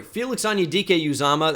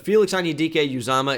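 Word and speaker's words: Felix Anudike-Uzomah: Broderick Jones to the ceiling what a story Felix anyudike uzama that's how you pronounce it by the way I heard a number of different pronunciations last night that upset me but Felix onidike uzama is how you say it and he is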